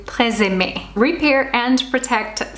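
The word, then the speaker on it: TRESemmé: The Tresemme. I think the actual pronunciation would be closer to Tresemme.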